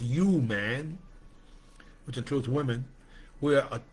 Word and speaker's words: UMAN: And so it's pronounced UMAN, which includes women.